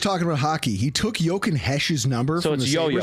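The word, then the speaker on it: Jochen Hecht: we were just talking about hockey he took yoken Hesh's number from Yoo it's yoken hes but it's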